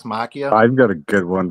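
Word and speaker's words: Machina: c h i n a x Maia it's pronounced Makia m a m a c h i n a yeah X Makia yeah it I think it's 2014a yeaha yeah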